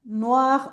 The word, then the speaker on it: noir: no, Noir, pero se pronuncian no, igual. Noir, noir, no varía nada.